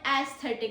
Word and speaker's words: aesthetic: Pro tip is A sounds just like E. AE sounds just like E.